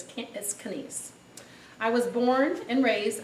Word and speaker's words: Canice: Hello, my name is Canice, which rhymes with Denise. There's no D in Canice. A lot of people call me Candace or Denise, but it's Canice.